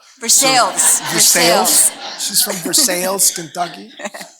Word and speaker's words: Versailles: But we're talking to Lori, who comes from a place in Kentucky that I learned is spelled like in France, Versailles, but they call it Versailles. Versailles.